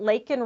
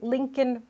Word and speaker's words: Laken: Biden's border crisis, and he calls her Lincoln Riley.